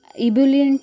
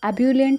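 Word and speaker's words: ebullient: इब्यूलेंट में नहीं प्रोनाउंस करना है, इसे एब्यूलेंट प्रोनाउंस करना है।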